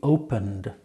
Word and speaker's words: opened: He opened his small bag. You hear? Opened. So it's not T, it's D.